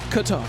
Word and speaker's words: Qatar: I've heard it pronounced so many different ways. Is there an actual, the proper way? Qatar. It's Qatar.